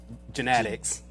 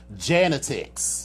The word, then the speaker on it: Janetics: But anyway, speaking of other queens, my queen, and to all my fellow genetics, I thought. You changed the pronunciation because when the very first show, you said it was Janetics.